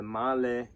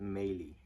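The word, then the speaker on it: Mahle: the reason is that Europeans hate Americans because they mispronounce everything this is man not men and the Mal is Mal not melee okay you got it good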